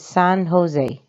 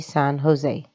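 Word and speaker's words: San José: must be san jose notice how it is written but read it in a different way so it's not san jose that's wrong san jose this is probably the the closest in pronunciation this is not an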